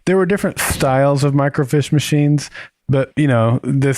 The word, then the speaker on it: microfiche: no no wait wait is it the mic micro fish eh you're eating my net it's a microfiche you're over pronouncing it what